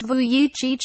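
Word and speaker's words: Vujicic: however is exactly how nicholas voyage pronounced vuichich spends every day without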